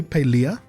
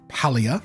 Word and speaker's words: Palia: MMOs are right so Pele which is the correct way to pronounce it by the way palea not palia it just had its